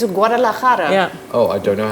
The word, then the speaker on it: Guadalajara: It's Guadalajara. Yeah. Oh, I don't know how to pronounce that, but you do it perfectly.